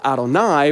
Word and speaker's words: Adonai: O R D here that is the Divine name Yahweh which was always pronounced Adonai by the Jewish people which meant Lord in Hebrew it's why you see